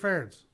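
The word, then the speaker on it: Ferentz: doesn't even seem right is that right ference that's how you say it yeah it's like I think I just try to always say Kirk hurts versus Kirk parents Kirk ferens he uh I don't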